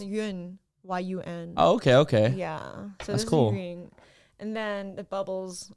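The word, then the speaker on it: Yun: also pronounced mish no it's pronounced yuen y-u-n and then the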